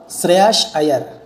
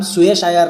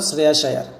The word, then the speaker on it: শ্রেয়াস আয়ার: সো ওনার নাম হলো শ্রেয়াস আয়ার। ওর নাম সুয়েশ আয়ার নয়, ঠিক আছে? সুয়েশ আয়ার নয়, ওর নাম হলো শ্রেয়াস আয়ার।